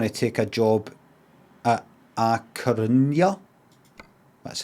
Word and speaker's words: A Coruña: We're going to take a job at A Coruña.